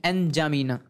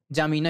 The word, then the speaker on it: एनजामीना: अब इसकी राजधानी है एनजामीना। क्या? एनजामीना। ठीक है, या आप सीधे सीधे इसको जामीना ही बोल सकते हैं, क्योंकि आप अगर गूगल करेंगे प्रोनाउंसिएशन में तो आपको ऐसा ही प्रोनाउंसिएशन मिलेगा, एनजामीना।